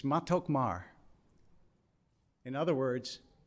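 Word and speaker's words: מתוק מר: in hebrew so i looked it up it's matokmar in other words it's sweet bitter and i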